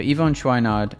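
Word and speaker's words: Yvon Chouinard: I wanted to just check the pronunciation of I think Ivonne Schwinard who I talk about in the book. So I wanted to make sure I pronounced that right. So Ivon Schweinard is the founder of Patagonia.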